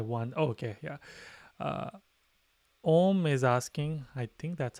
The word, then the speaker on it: Om: oh okay yeah uh om is asking i think that's how it's pronounced a a-u-m that's actually the correct pronunciation of um it's not oh you